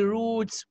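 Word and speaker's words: routes: اول يا شاب ما يقول لي روتس وراوتس خد بالك ان راوتس اللي هي في دي واي دي بتنطق راوت وبتنطق روت الاثنين صح. في امريكانات بيقولوا راوت وفي ناس بيقولوا روتس الاثنين ار كوريكت لكن البريطانيين بيقولوا روتس بس.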